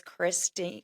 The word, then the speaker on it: Kristin: So, it's Christine Christine. Um, but it would be like if it would have the accents on the eyes. So, Christine. Um, but yeah, that's been my lifelong battle with the pronunciation of my name. I always say it's like an imaginary e at the end.